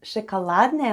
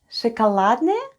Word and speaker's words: шоколадное: Шоколадное мороженое. Let's spell the word шоколадное. The first sound is sh, then goes o, it's unstressed and is pronounced as a.